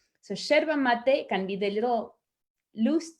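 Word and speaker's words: yerba mate: drink the herb is cherva mate it's spelled with a y and in argentina we say the y is like an sh so cherva mate can be the little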